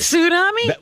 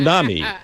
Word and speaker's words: tsunami: tsunami. Yeah. Tsunami. That's the way it's supposed Let to be. me hear you pronounced. say it. Say it again. Tsunami. Tsunami. Yeah, there's a T Tsunami.